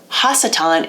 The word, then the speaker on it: Hasatan: Hasatan is the actual right reading of it, and Hasatan's a title.